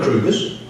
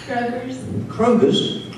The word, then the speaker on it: Kroger: why did you do that krueger's you know krugers the grocery store the supermarket what did you say kroger's are you saying that i'm not pronouncing it